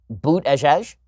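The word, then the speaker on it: Buttigieg: pete but a gig which I guess is pronounced boot as Hesh is that how it's pronounced I really I think that's how it's actually pronounced in any case beta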